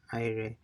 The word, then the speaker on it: aire: So AIRE, it's and is IRE.